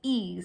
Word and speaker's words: Ys: So next we have, it is spelled as Y-S. So I had asked Jennifer, I was like, what is this? This is Y's? She goes, it's E's.